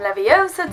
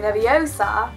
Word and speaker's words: Leviosa: You've got to learn to say Wingardium Leviosa, not Wingardium Leviosa. Leviosa.